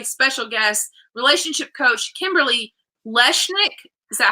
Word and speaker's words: Lechnick: Okay, so I want to introduce you guys to my special guest, relationship coach, Kimberly Lechnick. Is that how you pronounce it? You almost have it. It's Lechnick. Lechnick.